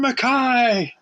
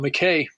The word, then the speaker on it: MacKaye: said to the crowd how do you pronounce my name they said Ian makai and I was so happy I grew up being called Mackay that's the most people here say Mackay in America but it was always